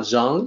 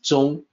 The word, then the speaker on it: 宗: and the opinion i think can lead to the mistaken pronunciation of zhang like bang you know about or king kong but it's not zhang it's zhong the meaning of this